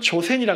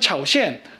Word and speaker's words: 조선: 예, 조선이라는 국가 명칭은 우리는 조선이라 발음합니다만 다른 사람들은 다른 발음으로 했어요. 예를 들어서 일본 사람은 조센이라 그랬단 말이에요. 현지의 한자를 기준으로 봐도 우리는 조선, 일본은 조센, 그 다음에 중국은 차오셴 뭐 이런 식으로 얘기한단 말이에요. 벌써 발음이 뭔가 비스무리하지만 약간씩 다르죠.